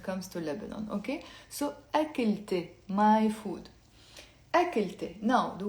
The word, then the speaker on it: أكلتي: So we're not going to say أكله, we're going to say, pronounce it with me, أكلت, أكلت. So notice I'm pronouncing the T plus adding the ye in the end, which means my.